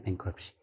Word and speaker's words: bankruptcy: 네, bankruptcy. 이건 이제 묵음이죠.